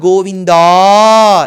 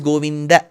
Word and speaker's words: Govinda: that is wrong it's not goinda it is goinda See neither is this